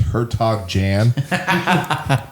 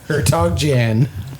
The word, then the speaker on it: Hertog Jan: beer 7 years ago, who got me to say it correctly once out of 20 tries, and that's about as close as I can get right now. Hertog Jan. Hertog Jan.